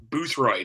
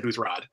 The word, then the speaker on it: Boothroyd: Because Ken Knapsack kind of mispronounced Boothroyd. He said Boothrod.